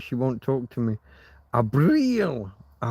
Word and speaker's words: Abril: Abril. You got to get the eel. Don't just say Abril. Don't just say it like it's April, but with a B.